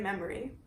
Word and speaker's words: Memery: See, my name is Memory. Like memory, only spelled with an E.